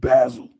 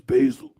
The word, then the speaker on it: basil: Like I said, in other countries, they pronounce it basil, but it's basil.